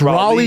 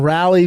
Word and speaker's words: Raleigh: maybe not I don't know not righ it's Raleigh North Carolina January 6th through January 8th and then Rally North Carol Ina January righ North Carolina January